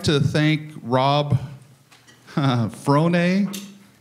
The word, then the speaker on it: Frohne: So, everybody, I'd like to thank Rob Frohne. He says it rhymes with baloney, and I just think that he's not full of baloney.